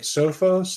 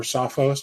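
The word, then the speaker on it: Sophos: look at a company like sofos like or sofos depending on what side of the the pond you're on right um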